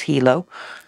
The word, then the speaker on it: Hilo: how you say it we kept saying Hilo it's Hilo um it looks like a